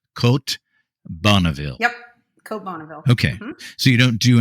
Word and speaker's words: Bonneville: came to the US they've got a completely different pronunciation than the French do and so it's and